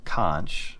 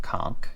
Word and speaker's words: Conch: And I think what is happening is that after starting out with the TRN Conch, or Conch, if you want to pronounce it the right way, if starting out with